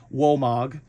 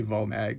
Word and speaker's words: Vomag: it out to it in German it'll be pronounced walog but um in English it's it's probably better with my terrible German accent just to say vag so but you do